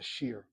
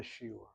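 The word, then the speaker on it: שיעור: yeshiva that we called our Talmud class a shir, not a shiur. We went to song. We didn't have singing involved at all. But that's how we mispronounce the word. Shiur became shir.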